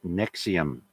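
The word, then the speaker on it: NXIVM: trafficking in relation to a sex cult called nexium in new york that floored me when i heard that and nexium is spelled n x i v m uh november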